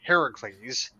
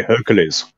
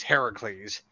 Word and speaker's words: Heracles: to be Hercules or if you get the pronunciation right it is Heracles uh heres swz oh yeah yeah Arnold Arnold me Hercules Hercules but the actual pronunciation of the name is Heracles um and uh it's Heracles versus believe it